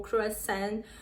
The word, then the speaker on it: croissant: o coração coração não é crochê são o croissant o termo correto é realmente coração coração Esse